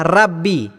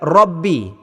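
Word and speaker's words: ربِّ: tersebut ialah Alhamdulillahi Rabbi biasanya pembaca akan membaca dengan ejaan R ya maka bunyinya ialah Rabbi sepatutnya pembaca membaca dengan bacaan ro yang berbaris di atas dengan bacaan yang tebal bunyinya ialah Rabbi jadi saya ulang lagi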